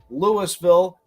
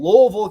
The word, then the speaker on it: Louisville: You can call Louisville, Kentucky all you want. You can say it wrong and say Louisville, Kentucky, but Louisville, Illinois is how you say that town's name, and it's just remarkable